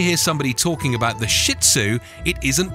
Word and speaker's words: Shih Tzu: trimming and grooming five the right way to pronounce the name sounds more like shizu i found this important because almost anytime you hear somebody talking about the shih tzu it isn't pronounced properly